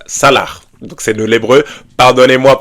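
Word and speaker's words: סלח: Donc vous l'écrivez C-A-L-A-C-H, mais ça se prononce salah.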